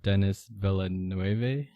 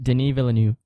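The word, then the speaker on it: Denis Villeneuve: the uh baron you probably know how to pronounce his name better but dennis villanuevae but denis villanue there you go thanks yeah but that's why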